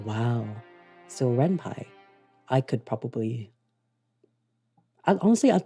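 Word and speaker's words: Ren'Py: So, Renpai, it's pronounced Renpai. Wow. So, Renpie, I could probably honestly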